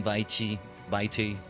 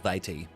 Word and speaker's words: vitae: I think it's like vitae. Yeah, vitae. That's how I pronounce that word whenever I've seen it.